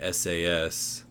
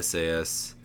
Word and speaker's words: SAS: This is a screencast going over running SAS on demand for academics from the SAS Institute. SAS Enterprise Minor, I guess they doesn't go by SAS, it's SAS is how they say it.